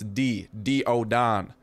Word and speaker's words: Daeodon: like him or diodon I keep saying day but it's D do oon I should looked at